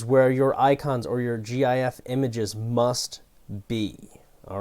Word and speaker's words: GIF: And also, to end on one final note, it's pronounced GIF, G-I-F with a hard G. GIF, not GIF.